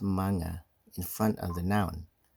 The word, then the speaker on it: mga: Pluralization of impersonal nouns is achieved by inserting the word mga, mga, pronounced manga, in front of the noun.